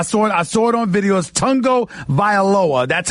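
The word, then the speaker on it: Tagovailoa: you pronounce I saw a sword on videos Tongo viola that's how he pronounces his name but I'm going to ask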